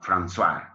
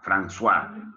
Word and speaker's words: François: ¿Esa C que está en francés se pronuncia como algo así como una S? Exacto, ese es el francés, ¿no? Francais, François, François, François, exacto.